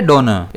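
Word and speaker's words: donor: इसे हम प्रोनाउंस कैसे करेंगे? डोनर। इसमें स्ट्रेस जो है वो डी पर रहेगा।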